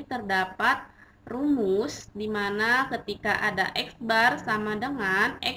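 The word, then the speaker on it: x̄: tanda mint atau rata-rata dibacanya yaitu eksbar ya Ini eksbar nah untuk selanjutnya pada pembahasan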